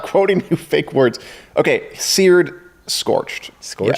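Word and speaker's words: sered: Okay, seared, scorched. Scorched? Yes, although it's spelled S-E-R-E-D. Seared.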